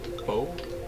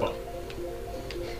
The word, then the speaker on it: pho: Bo? Pho, it's where I work. Pho. It's pronounced pho. Like P-H-O. It's pronounced pho. It's Vietnamese.